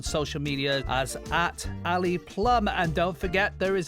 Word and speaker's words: Plumb: media as at Ali Plum and don't forget there is a b at the end of his name is p l u m b Ali Plum on all those social medias